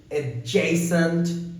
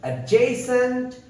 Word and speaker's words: adjacent: 12 and the last one for today's video adjacent to this word got a very complex pronunciation because there's a b but you know